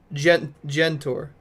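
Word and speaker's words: Žentor: By the way, the marker over the Z in Zentor's name means it's pronounced like a G in beige. So, Gentor. Oh, okay.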